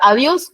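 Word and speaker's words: adiós: no no es así esto tiene solamente dos sílabas por favor no no se paren de esa manera o si no tú que nas pero está la palabra Adios lleva tilde en la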